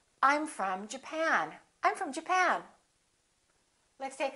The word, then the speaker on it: Japan: or japan in this case it's the second syllable i'm from japan i'm from japan let's take a look at